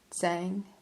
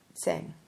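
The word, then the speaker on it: Tsang: foreigners call the Tashi Lama Tibetans call him sang pesan rishe the precious learned man of the province of sang TS a n g he is considered to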